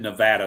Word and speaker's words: Nevada: Yes, I said Nevada. That's how it's pronounced.